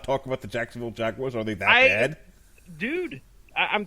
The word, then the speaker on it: Jaguar: I have okay listen I've recognized throughout my life you know certain mispronunciations of things jaguar was not one of them until tonight so let's go ahead we'll put that out there Jaguars the first time I've ever said to myself you know maybe I have been pronouncing that wrong I won't believe no